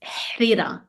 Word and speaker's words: harira: So it might be written like that, but in pronunciation is harira. Harira. It's not the American R, it's r. So harira, harira.